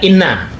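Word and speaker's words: إنّ: Kalau inna di awal jumlah dia dibaca inna ya. Nanti kalau di tengah di ana dibacanya.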